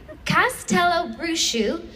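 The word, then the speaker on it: Castelobruxo: Um, the first school I can exclusively reveal uh is, and by the way, this is phonetically spelled, so I'm definitely pronouncing it correctly. Castella Brusu in Brazil.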